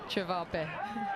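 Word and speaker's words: ćevapi: Chavape.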